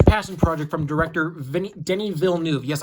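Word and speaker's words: Denis Villeneuve: Denny Ville new yes I finally pronounced his name correctly and when I showed the last when I showed the first dune I uh I said that um I I acally mispronounced his name as Dennis volov but it's Denny Ville new so I apologize for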